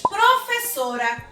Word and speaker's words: professora: mais forte, nós classificamos a palavra como paroxítona. Vou falar de outra palavra, tráfego. Tráfego. Então, qual foi a sílaba que mais demorou? Foi trá. Então, a sílaba mais forte é a antepenúltima sílaba.